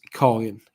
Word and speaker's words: Karin: My mother's name is not Karen, but that's how you would pronounce it in English, I think, because pronunciation thing. But my mother's name is Karin, Karin, Karin, I think, Karin.